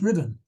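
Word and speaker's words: Ruthven: I've got problems with rosan because I'm not sure if that's how it's pronounced there are several rosans in Scotland and I know there's one in abedinia which is pronounced rivon so my apologies I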